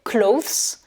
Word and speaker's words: clothes: Ici, dans clothes, attention, on a une lettre muette, c'est le E, hein, puisqu'en général, les pluriels, on prononce toujours le S ou le S. Language, languages, mais ici, attention, c'est clothes, donc là, le E est muet.